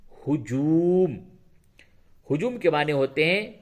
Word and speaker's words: ہجوم: سے پہلے ہے ہجوم۔ ہجوم کا ہجے اس طرح سے ہوگا، ہے پیش ہو، جیم وا پہ جو، میم ساکن، ہجوم۔ ہجوم کے معنی ہوتے